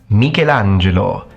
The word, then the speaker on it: Michelangelo: quite intelligent which I think suits the name mikelangelo mangelo miguelangelo sounds like a handful but that's how you're supposed to pronounce it full name mangelo Sim you got